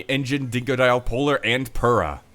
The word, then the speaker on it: Pura: Crash, Coco, Cortex, Tiny, Engine, Dingo Dial, Polar, and Pura. Some people pronounce it Pura, but they're weird.